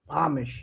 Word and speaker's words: Amish: Pronounced Amish? Amish, yeah.